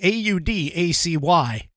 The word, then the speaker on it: Audacy: radio stations, as well as through the Audacity, AUDACY app. That is Audacity, AUDACY app. Or sorry, Odyssey. Now I keep mispronouncing it.